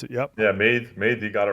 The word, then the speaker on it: Meath: However you pronounce it. Yep. Yeah, Meath, you got it right.